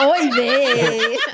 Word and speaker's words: oy vey: You don't even say it right, Jessica. Oy vey. Sounded like gravy.